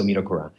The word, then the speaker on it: Midokura: So Midokura.